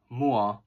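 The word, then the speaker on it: Moua: Her last name, Mua, spelled M-O-U-A, is white Hmong. That is the traditional Hmong we hear in the States. While Muas, M-U-A-S, is the green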